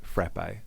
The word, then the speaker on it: frappe: From Hughale and he says frappe. So that's one for Casey and I. Yep. James, a real person in Melbourne. Frappe. The A is pronounced like cat.